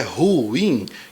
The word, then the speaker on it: ruim: ruim mas está errado porque a pronúncia correta é ruim certo então é ruim que se fala muito bem